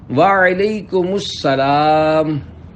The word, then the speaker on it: وعلیکم السلام: جواب سناتا ہوں، پھر آپ اس کو دہرائیے۔ وعلیکم السلام۔ رضائے حق کے لیے تم سلام عام کرو،